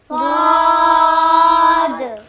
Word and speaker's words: ضاد: সেই উপায়টি হলো, যার যার জিহ্বা স্বাভাবিক অবস্থায় রেখে ভিতরের দিকে নেন, আরও নেন।